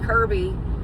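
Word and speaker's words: Cyrby: sleep, and I drove us to our actually Kirby, which is spelled C-Y-R-B-Y, which is our Cybertruck, drove us to the most perfect camping spot out in the middle of Tennessee.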